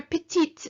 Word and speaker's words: petite: clap little hands and the t for petite so we hear it because it's t e so that means small